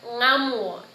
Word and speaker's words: ngamu: This is probably the trickiest sound or blend that you make in Gugiyalanji, because there's no L as the initial sound in English. And so an example of this in Gugiyalanji is ngamu. And you need to feel it from the back of your throat.